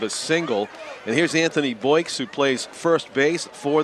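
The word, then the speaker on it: Boix: Anthony Boyks spells it B-O-I-X. Yep. Boyks is how they say it. Sounds like a sound effect.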